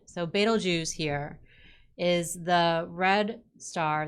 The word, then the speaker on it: Betelgeuse: in some way but most of them say that this is pronounced more like betel jews j-o-o-z kind of sounding at the end so betelgeuse here is the red